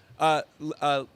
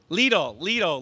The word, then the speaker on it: Lidl: with an amazing supermarket, Leedy, like needle, right? Is it called Leedy supermarket? How do you say it? Lidl, like needle. Lidl supermarket, which is German,